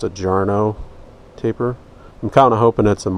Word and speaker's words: Jarno: I've read that this is supposed to be, I think it's pronounced a Jarno taper.